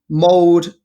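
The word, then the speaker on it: Molde: He's to go from Mould, that's how you pronounce it, to Cardiff and then to Manchester United.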